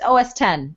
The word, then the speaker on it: OS X: OS 10 I'll captain I'm sorry for people who don't know how to say it but yeah you got it you got a couple months it's okay it'll it'll just it'll just flow its OS 10 you know when in